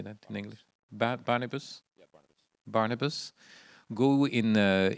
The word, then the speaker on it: Barnabas: Barnabas.